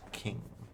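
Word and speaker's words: Qing: I think it's called I think it's pronounced Ching, not Quing. Uh, no, it's actually both are correct. It's English versus American though. American is ching. Uh European English is king or And yeah, if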